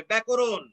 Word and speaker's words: ব্যাকরণ: মূর্ধন্য ন যদি থাকে শব্দে তাহলে সেই শব্দের উচ্চারণ দেখাতে হবে দন্ত ন দিয়ে। যেমন ব্যাকরণ, ব্যাকরণ, দেখো ব্যাকরণ উচ্চারণটি এরকম হবে ব্যাকরণ।